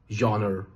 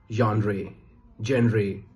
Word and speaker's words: genre: A lot of people say genre, genre. Well, that's all wrong. The correct pronunciation is genre.